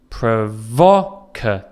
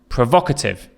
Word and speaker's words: provocative: You can hear the stress again is on the second syllable. Provocative. Provocative.